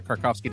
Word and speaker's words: Krakovsky: I make sure I have this right kovski decom is is the best place for you yes and stellar pronunciation of my last name I might ask